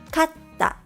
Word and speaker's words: かった: Recognizing and pronouncing double consonants correctly is important because it can completely change the meaning of a word.For example, kata means shoulder, while katta means one.